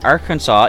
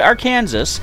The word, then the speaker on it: Arkansas: have Redman typify from Arkansas in United States I almost pronounce it our Kansas I caught myself unless